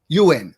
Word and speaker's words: Yuen: well as the popular yuan mat is that correct yuan you win there's two pronunciations my last name smythe smith irish yeah but uh it's the u.n dr cam you win okay okay brad smythe